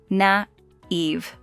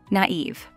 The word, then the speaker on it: naive: and the pronunciation is naive naive yes it's a two syllable word and the stress is on Eve naive naive come on